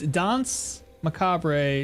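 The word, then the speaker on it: Danse Macabre: It's Dons Macabre. No emphasis on the last E.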